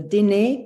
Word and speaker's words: Diné: I've gotten a book about a medicine woman from I hope that I pronounce this right, the Diné people, the Navajo Diné, people.